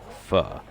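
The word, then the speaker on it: phở: And then if you ever had Vietnamese pho, okay, it's PHO, but in Vietnamese it's actually pronounced pho.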